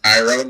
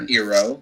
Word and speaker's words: Iroh: Also, remember it's Iroh, not Eero.